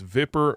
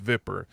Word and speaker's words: Vipper: I'm sure, like Zipnix, he says it's pronounced differently, but it's Vipper. It's Vipper, my dude, it's Vipper.